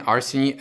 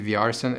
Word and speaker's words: Arseny: I'm gonna name mine Arseny S, because this is my name. I'm not actually Vyarsen, it's pronounced Arsen.